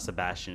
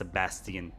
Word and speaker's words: Sebastian: Especially on this game because it like Sebastian is not Sebastian, it's Sabastian.